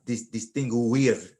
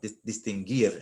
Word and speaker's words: distinguir: Let me point out that the UIR sound makes one sound. This is what's called a diphthong. This one sound, like distinguir. If I pronounce those three letters, I would have distinguir, and that's not what they want. They want distinguir, and that's called a diphthong, and they just make one sound.